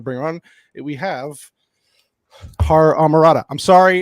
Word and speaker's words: HorrorAmorata: Did you say the H? I did. I said HorrorAmorata. I usually New Yorkers don't pronounce H's or certain words, so I said it.